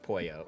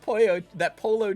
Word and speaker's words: pollo: I know how to pronounce pollo, right. Although as a Mexican-American, pollo chicken has me. You can admit when something's good, that polo chicken.